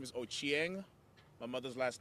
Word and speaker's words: Ochieng: n g Ender thank you sir can you pronounce um my last name is ochieng my mother's last name is ooko and foreign